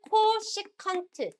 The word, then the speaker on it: 코시컨트: 사인의 역수를 우리는 어떻게 쓰냐면 앞으로 줄여서 csc 세타라고 쓰고 읽을 때는 코시컨트 세타라고 읽으시면 돼요. csc라고 읽지 말고 코시컨트 세타 이렇게 읽으면 됩니다.